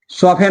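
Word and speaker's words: soften: अगर किसी वर्ड के, यदि किसी वर्ड के लास्ट में क्या है, टी एन आए, टी ई एन आए, तो यहां पर टी का उच्चारण नहीं किया जाता है।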